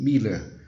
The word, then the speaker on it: Müller: Mas em alemão ela tem som de I, Miller.